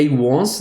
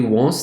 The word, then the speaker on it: once: com W on certo Então apesar dela começar com uma vogal o som dela é como se ela começasse com uma eh consoante Então vamos ver aqui